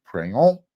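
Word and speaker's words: Pregnon: right Jonah monheim Emmanuel prione remember you say it like you're French praying all or Gino Quinones Justin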